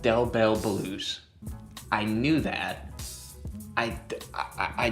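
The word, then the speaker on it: Del Bel: His name is literally pronounced Dell Bell.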